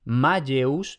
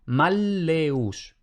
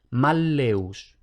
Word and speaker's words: malleus: una doble L, no se pronuncia como en español. Por ejemplo, no sería Malleus, no, sería Malleus. Entonces vemos que la L es larga o doble, Malleus. Y luego pueden aparecer también otras consonantes dobles.